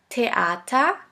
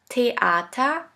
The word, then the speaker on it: Theater: Now the last letter combination, TH, TH, which is simply pronounced like a T. Here we have the example of the word Theater, Theater, which means theater.